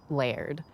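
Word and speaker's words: laird: get to enjoy it it's not like the ler isn't going to benefit financially it's pronounced layered and not everything's about money Brad this place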